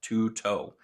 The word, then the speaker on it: Tueto: the crkt t-u-e-t-o and according to their phonetic spelling on the web on their website it is pronounced two-toe uh interesting yeah this